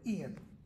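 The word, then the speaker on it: e'en: even at him that e hyen uh apostrophe e in it's just an abbreviation for even pronounced as one word Ian your worm is your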